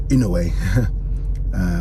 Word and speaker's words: Inoue: looked up and obviously I saw Inoue, or Inoue, as I've been told to pronounce it correctly, and Nakatani's photos, and